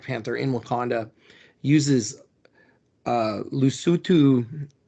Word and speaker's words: Lesotho: from the culture of Lesotho which we would look at like and say Lesotho if we didn't know how to pronounce yeah things the right way um and so like